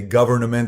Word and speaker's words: government: government I would say government they said the N is silent I said this language